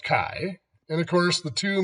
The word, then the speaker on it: chi: is the Greek letter Kai I'm spelled Chi but it is pronounced Kai and of course the